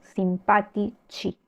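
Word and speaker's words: simpatici: ter última sílaba Entonces el plural se hace sin la H y acá sí cambio el sonido digo simpati chi cambio el co por chi simpático simpati chi bien Yo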